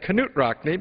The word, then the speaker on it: Knute Rockne: birthday of new rockney or as he said canut rockney because that's what canut Rockne's Widow had told him was the proper pronunciation and we flew there